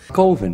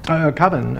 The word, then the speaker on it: Coven: Coven, man, what else could it be pronounced? Coven, that's the proper pronunciation. No, Coven sounds like oven, man, and that's just, it doesn't work.